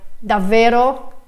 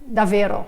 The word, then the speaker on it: davvero: bit strangely as well, like just pronouncing, I don't know, like davvero, davvero. So this is like how I tend to do it, like, you know, just one V sound, even though I know there is a double consonant and I should pronounce it twice.